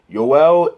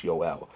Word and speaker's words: Joel: with the european pronunciation yowell erickson ick that's the correct way to say it it's ul we kind of anglicize it as joel but it's yoel um that's what i'm